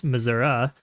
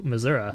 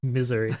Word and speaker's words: Missouri: yeah the state's called Missouri and I'm like no if you're going by the French pronunciation it's misura and that's how everyone in the state pronounces it as well we go mura right and they're like